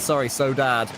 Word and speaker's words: Saudade: So So Dad, Saudade they told performing us. well. They told us how to say it.